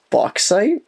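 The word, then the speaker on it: bauxite: Boxite. Can you spell it out for me?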